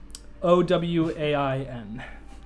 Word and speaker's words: Owain: Is that spelled like Owen? Owain. It's where the name Owen comes from.